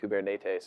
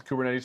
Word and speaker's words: Kubernetes: We actually pronounce it wrong. I think if you're actually Greek, you pronounce it something like Kubernetes or something like that. But it's too late. Everyone's been saying it wrong.